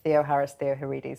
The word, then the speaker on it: Theoharis Theoharides: Theoharis Theoharides, thank you so much for joining me today.